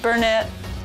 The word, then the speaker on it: Burnet: Burnett. Someone's putting the emphasis on the wrong syllable.